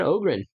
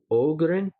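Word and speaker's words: Öhgren: but i'm pretty sure in swedish an o with an umlaut makes the long o sound like ostlund and ogren um they're all pronouncing it ostland like more of an ah sound i haven't heard it pronounced like that before muslim definitely has higher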